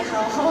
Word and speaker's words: 好々: 書くんですけどそれを 2 個重ねて好き好きでハハと読みますえっと 1 曲目